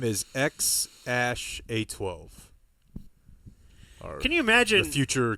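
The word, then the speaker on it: X Æ A-12: X um and then the AE is like pronounced Ash um Rogen just laughing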